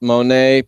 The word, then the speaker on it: Monet: You asked me about Monet, pronounced just like Claude the painter.